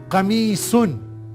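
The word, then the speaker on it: قميص: कमीसुन ये एक नाउन है। काफ के ऊपर फतहा, मीम के नीचे कसरा, या के ऊपर सुकून। कैसे पढ़ेंगे? कमी, साद के ऊपर तनवीन, कमीसुन शर्ट।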